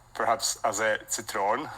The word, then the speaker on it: Zitrone: pronounced perhaps as a Citron because it's the German word but I I heard